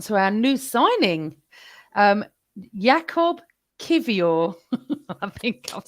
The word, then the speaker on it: Kiwior: And that can lead us on to our new signing, Jakub Kiwior.